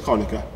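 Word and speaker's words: Conacher: As you always know, it's the Conker organ. No, said it wrong, it's the Conica.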